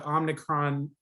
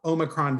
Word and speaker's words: omicron: all i know about the omnicron variant or omicron variant sorry it's really hard to